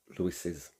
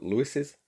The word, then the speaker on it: Lewis's: However, it is pronounced Lewis's, but we spell it without the other S. Yeah, so Lewis's dog is friendly.